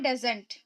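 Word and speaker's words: doesn't: क्योंकि डी को डा पढ़े, एस को जा पढ़े, ओ ई को यहाँ पर साइलेंट रखा जा रहा है, एन को न पढ़ रहे हैं और टी को टा पढ़े हैं, तो हम क्या पढ़ेंगे, डजंट, ठीक है।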